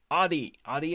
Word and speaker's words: Adi: Uh, okay, Adi it is. My name is pronounced same as yours, but with D from door instead of V.